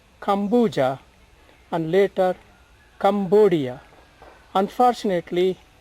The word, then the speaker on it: Cambodia: came to be called Kambuja and later Cambodia. Unfortunately, some people mispronounce it as Cambodia. There is nothing to do with the Cam here, it is Kambu.